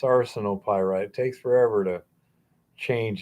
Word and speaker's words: arsenopyrite: Yeah, and it's not arsenopyrite either. It's arsenopyrite. It takes forever to change a pronunciation that you've been using for years.